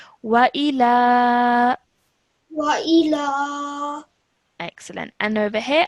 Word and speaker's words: وإلى: All right, so over here I've highlighted this because you said wa illa, but this is 2 separate letters with 2 separate strokes, so that is why we pronounce them separately. Wa ila.